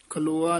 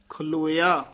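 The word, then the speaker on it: ਖਲੋਆ: सूही महला पंजवा, बुरे काम को ऊठ खलोआ, खलोआ नहीं है खलोया, बुरे काम को ऊठ खलोया, नाम की बेला पै पै सोया।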